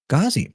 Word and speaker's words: Ghozzi: correctly, you just pronounced it correctly. Ghozzi, perfect.